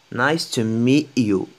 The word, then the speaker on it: nice to meet you: Les Américains prononcent pas le T à la fin. Ça se prononce comme E, E. Nice to meet you.